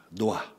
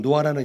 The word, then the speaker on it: 노아: 노아하고 H가 있습니다. 그래서 정확하게는 노아 흐 발음이 있습니다. 흐 발음이 노아만 아니고요. 흐 발음이 있습니다. 이런 탁성이라고 하는데 이게 이스라엘 히브리 언어에는 좀 이런 가래 끓는 소리가 좀 많이 쓰이게 됩니다.